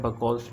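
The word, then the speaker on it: Buchholz: दोनों वेल्व के दरमियान जो बेसिकली एक रिले लगी होती है जिसको कहा जाता है बकॉल्स रिले। ये बकॉल्स रिले इस तरीके की प्रोनाउंसिएशन होती है, मतलब एक रिले लगी होती है।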